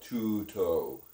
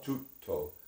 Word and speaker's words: tutto: Like tutto, everything, tutto. Okay. It's not tuto. It's No. tutto. So No. you actually want to enunciate each T, right?